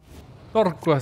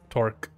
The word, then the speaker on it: Torque: Torqua sounds so much cooler than Torque, which is, you know, what it's actually spelled like in English.